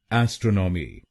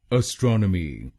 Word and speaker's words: astronomy: इस शब्द की सही प्रोनाउंसिएशन है एस्ट्रोनॉमी। एस्ट्रोनॉमी। इस शब्द में 4 शब्दांश हैं। पहला शब्दांश है ए, दूसरा शब्दांश है STRON, तीसरा शब्दांश है O और आखिरी शब्दांश है MY। पहले शब्दांश को यानी ए हम बोलेंगे अ। गलत प्रोनाउंसिएशन में हम इस अक्षर को ए बोलते हैं, तो इसको ए नहीं बोलिए, इसको बोलिए अ। दूसरे शब्दांश को यानी STRON हम बोलेंगे स्ट्रॉन, स्ट्रॉन।